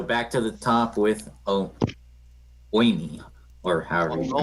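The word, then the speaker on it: Omie: so back to the top with Oimi, or however you Oh, pronounce it. Omi.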